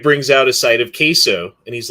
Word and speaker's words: queso: And you said queso? Yeah, queso. Queso, like Kayso.